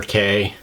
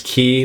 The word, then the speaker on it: cay: from all my research the most correct way to pronounce it is key like uh like a key that opens a lock and I believe that